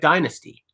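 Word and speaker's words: Dienasty: wanted dye nasty like d-i-e-n-a-s-t-y but you would say it like dynasty the band's called dynasty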